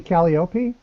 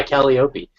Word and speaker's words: Calliope: i consistently mispronounce everything how many folks mispronounce calliope you mean calliope yes number to say to syrup yes by kelly opie um so um sorry